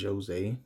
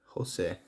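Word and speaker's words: José: Jose Aldo, he pronounces it Jose. I guess it's because of the punctuation over the E, but I don't know. Most people would say Jose or Jose, whatever.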